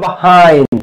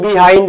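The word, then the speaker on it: behind: পিছনে যদি থাকে তাকে কি বলে তাকে বলে বাহাইন্ড এটাকে বিহাইন্ড বলে অনেকে বাট এটার উচ্চারণ আসলে বিহাইন্ড না এটা উচ্চারণ বাহাইন্ড কি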